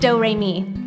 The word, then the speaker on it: Doremi: It's spelled like notes and pronounced Doremi.